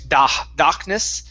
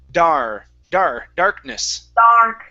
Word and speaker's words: darkness: So before you're saying darkness, instead of darkness, it's darkness. Darkness. Okay. Now, with the nis at the end, you don't want to say nis or ne. Okay, it's ness.